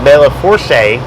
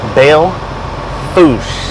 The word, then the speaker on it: Belle Fourche: that way here so if you look at the name of this town and you want to say Bella Porsche or belaforce or belaforcey it is not none of those pronunciations it is bail foosh how did they get